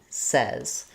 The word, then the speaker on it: says: It actually sounds like says. So many people, when they're speaking American English, will mispronounce this supposedly easy word because of this word say. The word say follows the rules. Letters AI say the A sound, but the word says is a rule breaker for English pronunciation and spelling. This vowel, these letters AY in says, actually say the vowel, and letter S says the Z sound.